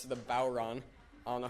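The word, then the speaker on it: bodhrán: its first of all it is not spelled phonetically at all it's pronounced bow Ron but it is spelled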